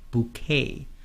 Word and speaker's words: bouquet: a bouquet of flowers bouquet be careful this is a French word so the way you spell this word and the way you pronounce this word is very different a bouquet are twelve